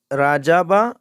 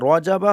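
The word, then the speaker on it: رَجَبَ: ফি রাজাবা বা রজাবা। রজাবা হলো সহি শুদ্ধ করে পড়তে গেলে রজাবা। অনেকেই রার উচ্চারণ করতে পারেন না, রাজাবা পড়েন। আমরা পড়ব রজাবা।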